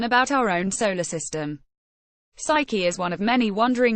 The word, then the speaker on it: Psyche: a way to get to Saiki pronounced psyche much faster by taking